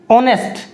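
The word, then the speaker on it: honest: ऑनेस्ट, ऑनेस्ट, vowel sound दे रहा है, ऑनेस्ट, ऑ से स्टार्ट हो रहा है, ऑनेस्ट, एच साइलेंट होता है इसमें, इस कारण से इसके पहले हम एन लगाएंगे।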